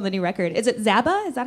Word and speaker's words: Zaba: to congratulations on the new record is it zaba is that how you say it yeah that's